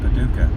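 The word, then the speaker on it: Paducah: Route 62 most likely head over to Paduka Kentucky assuming I'm pronouncing that right tomorrow yeah Paduka that's right so yesterday was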